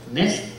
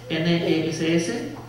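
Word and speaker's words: נס: Nes, N-E-S-S. Sí, así sería la pronunciación en español, Nes.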